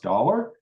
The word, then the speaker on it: daalr: It wasn't on purpose, but that's pronounced dollar.